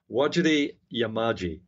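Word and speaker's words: Wajarri Yamaji: square kilometer array Personnel I did mispronounce that actually because there's there's when you see it written uh what you pronounce is slightly different it is waji yamaji that's the correct pronunciation some of the Aboriginal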